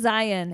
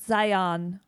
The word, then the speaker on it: Zion: Same with Zion. It is not Zion. It's Zion. Zion. Or Zion. You guys have been watching And too much.